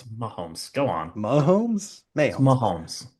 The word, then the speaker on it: Mahomes: It was blatant what Patrick Mayomes. It's one of your wonder Mahomes. What's with Mayomes? May it's Mahomes.